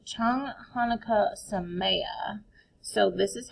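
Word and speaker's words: Chag Hanukkah Sameach: It's Chang Hanukkah Sameya. So this is how we spell it.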